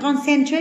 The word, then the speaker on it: concentrate: Cái này là concentrate là sai nhé. Đọc lại nào. Concentrate. Concentrate. Âm tiết số 1.